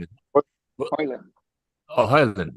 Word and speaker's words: Højlund: Højlund. Oh, Højlund. The J is silent, everything silent. Everything silent in the middle.